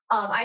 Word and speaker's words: gloriae: So that AE sound, by the way, when we pronounce that, we say I. So it's not something else, is gloria, glory, I. That's how you'd say that.